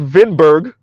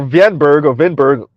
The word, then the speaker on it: Winberg: The wife is Swedish, and Alexander Winberg, pronounced Vinberg or Vinberg, I'm not sure, is Swedish and in cohabitation relationship with Felicia Warren, pronounced Varen, right?